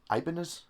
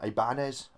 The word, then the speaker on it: Ibanez: it you know Japanese Pogo about Ibanez yes Ibanez it's a new pronunciation Ibanez Ibanez um obviously you can get the action